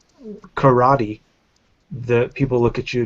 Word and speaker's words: karate: know so you know and like karate you know things like that those aren't words in Japanese either it's karat which is K and then